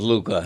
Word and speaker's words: Luka: You just love that hookah rhymes with Luka.